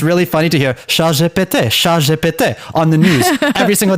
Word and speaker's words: ChatGPT: Because ChatGPT is pronounced ChatGPT, which sounds exactly like a French phrase.